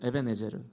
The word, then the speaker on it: 에벤에셀: 이 에벤에셀이라는 단어의 원래 발음은 에벤에제르거든요. 에벤에제르.